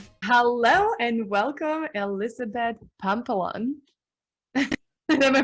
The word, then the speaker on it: Pampalone: Hello and welcome, Elizabeth Pampalone. Am I pronouncing Hey, it correctly?